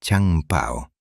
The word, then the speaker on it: Chang Pao: Pronunciado Chang Pao, el joven comandante más respetado de la enorme tripulación.